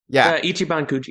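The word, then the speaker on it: 一番くじ: It's Ichiban Cooji. Is that how you pronounce it? Ichiban Coogi. Ichiban Cooji.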